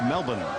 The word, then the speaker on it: Melbourne: Melbourne, but they don't pronounce the R down here. It's Melbourne.